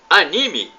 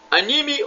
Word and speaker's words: anime: Você sabe o que é anime? Anime ou anime?